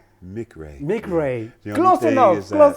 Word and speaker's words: McRae: Uh Mcra. Mick Ray.